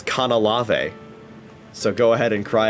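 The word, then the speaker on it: Canalave: Motherfuckers, I pronounce it as Kanalave.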